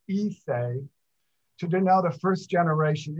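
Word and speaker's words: Issei: japanese used the term it's spelled i-s-s-e-i um pronounced ise to denote the first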